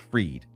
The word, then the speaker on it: Fried: So it's spelled like fried, but it's pronounced Freed.